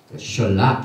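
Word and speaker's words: שלח: 그래서 오늘 이 토라 포션의 제목인 셜락, 신, 라메드, 그다음 캣, 이 세 가지죠. 셜락 이렇게 발음하는데 이것은 오늘 우리가 공부하는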